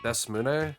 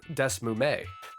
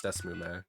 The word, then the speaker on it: DeSmuME: Is it Desmune? Is that how it's said? I did actually look at what it's called now. Desmume. I said it with an N earlier, it's Desmume.